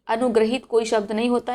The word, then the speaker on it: अनुगृहीत: अनुगृहीत, अब यहाँ पे क्या है, उच्चारण पर आप ध्यान देंगे, ये रा रकार है, इसमें आ का साउंड आता है और इस री की मात्रा में ई का साउंड आता है। इसे पढ़ेंगे हम अनुग्रहीत।